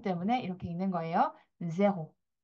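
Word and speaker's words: zéro: 자,에 발음 때문에 이렇게 읽는 거예요. 제호.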